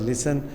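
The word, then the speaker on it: listen: क्या है हमारे पास लिसन टी साइलेंट है यहां पे विदर एच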